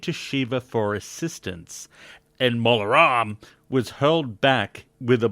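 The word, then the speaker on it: Mola Ram: From now on, you always have to pronounce it like this. Name gets brought up again, you're saying it like that. From the Molaram!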